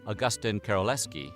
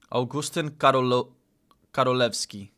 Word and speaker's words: Augustyn Karolewski: As 82-year-old Polish veteran Augustyn Karolewski described his reunion with Wojtek. Oh man, he kind of butchered that pronunciation. Augustyn Karolewski.